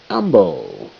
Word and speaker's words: amble: Amble. Silent E. M and the B where you place the fence.